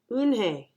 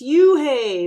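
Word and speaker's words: Unhei: It's spelled U-N-H-E-I. It's pronounced Eun-hye. "Oh, it's you-hey," the boy said, like, "You-hey.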